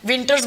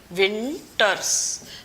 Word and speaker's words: VNTRs: अब नेक्स्ट हम देखते हैं मिनी सैटेलाइट का पार्ट VNTRs, विंटर्स बोलते हैं इनको, VNTRs. What are this, these are commonly तो इसको हम प्रोनाउंस कर सकते हैं विंटर्स, ठीक है.